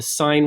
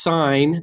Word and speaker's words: sine: ones one's called the sine ratio ones the cosine ratio and one's the tangent ratio and yes this is pronounced sign they abbreviated si n